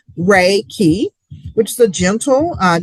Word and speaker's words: Reiki: in Japan um and it comes from two Japanese words ray meaning universal and then ki meaning life energy.